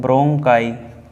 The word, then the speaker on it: bronchi: श्वास नली ब्रोंकाई, क्या पढ़ते हैं ब्रोंकाई। ब्रोंकाई की स्पेलिंग होती है BRONCHI, ठीक है, ब्रोंकाई।